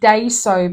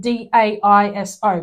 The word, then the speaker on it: Daiso: Because I keep pronouncing it Daiso because it's spelled D-A-I-S-O, but it's not.